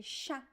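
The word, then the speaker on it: chá: So every time you see the letter C-H in Portuguese, remember the sound, the pronunciation is sh. Okay, sha, sha.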